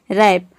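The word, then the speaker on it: wrap: तो इन सभी वर्ड में आप देख रहे हैं वर्ड के शुरू में आता है ज्यादातर WR एक साथ आ रहा है या फिर डब्ल्यू के बाद आर आ रहा है, तो वहाँ पे डब्ल्यू को आपको प्रोनाउंस नहीं करना है, डब्ल्यू लेटर साइलेंट रहता है।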